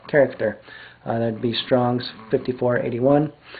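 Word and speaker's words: χαρακτήρ: Uh C H A R A K T E R character.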